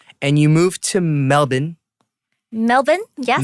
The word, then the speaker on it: Melbourne: And you moved to Melbourne. Melbourne? Yes. Melbourne. Whoa, that was such an American pronunciation.